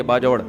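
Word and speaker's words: باجوڑ: हमारे जामियत रशीद के एक उस्ताद हैं, मेरे दोस्त भी हैं, उनके सुसर KPK से ताल्लुक है, बाजोड़ से, बाजवड़ का, जिसको बाजवड़ कहते हैं, असल प्रोनाउंसिएशन ये बाजवड़।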